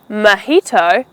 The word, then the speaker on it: mojito: So when you order a mojito along with your meal, you need to know that the J In Spanish, the J is pronounced with the H sound. Therefore, the J in mojito is called mojito.